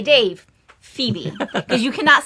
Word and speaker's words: Phoebe: before we're done today going to call her phobe I'm guessing yeah probably the name is Phoebe Phoebe that's how you spell it Phoebe yes so soe is